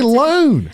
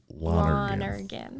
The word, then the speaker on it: Lonergan: I want to say Lone. I know. You say it like you spell it. Lonergan.